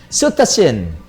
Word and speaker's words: cetacean: Cetacean ang bigkas nga niya.